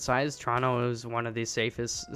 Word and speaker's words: Toronto: if you come to Toronto or Vancouver or some place you like you like how I set it there too I tried to pronounce a second T Toronto you know we say Toronto here but you wouldn't be